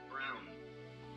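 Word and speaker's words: Braun: these over a minute long here we go brown brown okay I've seen brown and Brun then whichever one you like all right anyway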